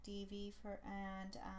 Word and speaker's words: Divi: are going to be talking about Divi, or Divi, or however you pronounce it. I pronounce it Divi so that's what I'm going to continue to call it.